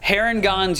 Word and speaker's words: Harengon: we're gonna talk about heron gonz you said is the right way to say it yeah yeah yeah and